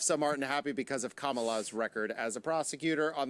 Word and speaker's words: Kamala: joe biden has chosen his running mate senator kamala that's how you say it harris is joe